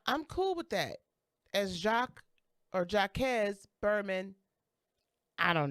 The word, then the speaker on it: Jacques: gonna assume it's probably jacquez berman webster ii because not too many of us are running around here pronouncing that actually as it should be which is jacques french anyway when i ran